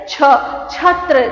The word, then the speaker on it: छात्र: How do you say this? छात्र. Never say ch. You get the tendency of saying it lightly.